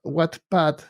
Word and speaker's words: Wattpad: Entonces, lo que les quiero compartir es una página que se llama Wattpad, que se escribe W-A-T-T, Pad.